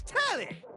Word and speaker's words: Telly: The name's Telly. Rhymes with Nelly.